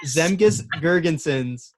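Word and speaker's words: Zemgus Girgensons: Miss Gregerson hey that was maybe the worst pronunciation of his name ever heard but I'll still give it to him it is zemke's gurgenson bear with 489 career games and my job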